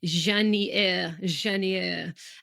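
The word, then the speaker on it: Jasnières: Well, it's because you, you know, you don't pronounce the S's within the everybody like I'll write the regions in the show notes, but yeah, Janeier.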